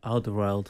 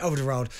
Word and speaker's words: Alderweireld: Alderweireld. Yeah, Alderweireld.